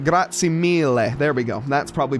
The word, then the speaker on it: grazie mille: Thank you, grazie mille, of course, and I said it right, grazie mille. There we go. That's probably better on the le. I gotta get that pronunciation better.